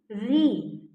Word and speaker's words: ऋ: से री और बरी इसको हम अपने आम भाषा में तो छोटी री बड़ी ऋ छोटी इ बड़ी ई ऐसे बोलते हैं लेकिन उच्चारण में बोलना है हमने री ऋ इसके ज्यादा आपको थोड़ी